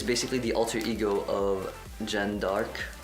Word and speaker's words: Jeanne d'Arc: So she is basically the alter ego of Jeanne d'Arc, or Jeanne d'Arc in the French pronunciation.